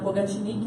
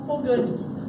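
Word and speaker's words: Pogačnik: O Pogatnik seria a forma que me ensinaram pronunciar o nome dele, que ele é esloveno, mas aqui no Brasil muitas pessoas falam Poganik, então a gente acaba aceitando aí as duas pronúncias.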